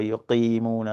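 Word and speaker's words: يقيمون: So, um there are some specialists here they say you don't want to make the qaf too deep. You go wa yuqimuna as-salat. You don't want to make yuqimuna as-salat, right?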